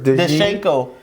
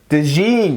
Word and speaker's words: DeJean: Cooper DeShenko. DeJean. Oh, DeJean. I believe that's how you pronounce Cooper it.